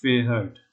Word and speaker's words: fährt: Okay, then first of all, this has to be pronounced as Fahrt, no?